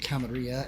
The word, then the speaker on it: Camarilla: them belong to the camera although some people will pronounce it camarilla and characters even in this game pronounce it both ways the nosferatu as a